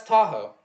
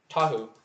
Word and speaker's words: Tahu: Oh, that's Tahoe. Tahu. Taho. Tahu is probably more correct pronunciation.